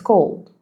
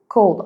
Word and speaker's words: cold: So, I don't say like cold. No, it's cold. Cold. I barely hear it. You know, it's like very fast.